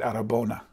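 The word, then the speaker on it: αρραβώνα: They said arabona.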